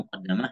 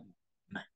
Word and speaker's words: muqaddimah: Terdapat dua nuskah ya, muqaddimah, muqaddamah, tetapi yang paling masyhur itu kita bacanya muqaddimah.